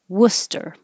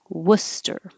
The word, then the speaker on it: Worcester: Massachusetts that is pronounced Worcester Worcester I'm not an expert in Massachusetts town names but it's not what it looks like that's one of the